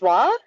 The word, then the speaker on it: Wah: Wah. Am I pronouncing your name correctly? Yes, that is correct. Thank you. Yeah. Yeah, it's hard to get right. People often do not get it right.